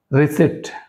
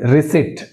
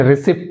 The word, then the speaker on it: receipt: Receipt, చూడండి రిసిట్, అంతేగాని రిసిప్ట్ అనకూడదు, రిసిట్, రిసిట్.